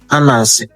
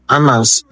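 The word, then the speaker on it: Ananse: So in the Ghana language, in my Tree language, this thing here is pronounced Anas. Yes, Anas, spider.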